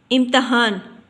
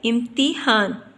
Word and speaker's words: امتحان: پیش کی علامت پڑھی۔ پھر ہے لفظ امتحان، یہ غلط تلفظ ہے، تو صحیح تلفظ ہوتا ہے امتحان، تے کے نیچے ہم نے زیر کی علامت لگانی ہوتی ہے، بلکہ تے کے اوپر زبر نہیں آتی، تو تے کے